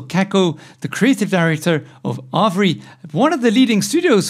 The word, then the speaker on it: Arvore: the the proper name the proper way to say your company's name is arabori avery okay cool yeah so